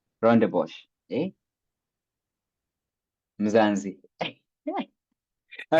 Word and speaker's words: Rondebosch: How do you pronounce this? It's Rondebosch. Rondebosch.